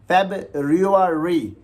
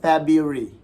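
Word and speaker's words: February: इसको अगर हम देखें अगर हम इसकी स्पेलिंग के हिसाब से इसको पढ़ेंगे तो कैसे पढ़ेंगे तब रियो री विच इसे रोंग अब्सोल्युटली रंग अब्सोल्युटली नॉट ठीक है तो इसको अगर हम राइट प्रनंसीएशन के साथ पढ़ेंगे स्पेलिंग को इग्नोर करते हुए तो कैसे पढ़ेंगे तब बरी इसी तरह बाकी भी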